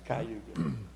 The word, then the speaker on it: Cayuga: How do you pronounce that street? Cayuga. Cayuga? Yeah, it's Cayuga. It's an old Indian name.